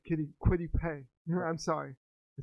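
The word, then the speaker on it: Kwity Paye: Quiddy Pray. Quiddy Pray. No, I'm sorry, Quiddy Pay.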